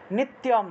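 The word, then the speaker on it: নিত্যম্: নিত্যম, তয়ের সাথে জফলা থাকায় তিয় উচ্চারণ হয়েছে। তয়ের সাথে জফলা থাকলে তিয় উচ্চারণ হয়, তিয়।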